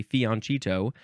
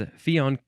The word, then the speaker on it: Fianchetto: You can see why people want to say fiancito, but technically the correct pronunciation, quote unquote, is fionchetto. I think it's ketto.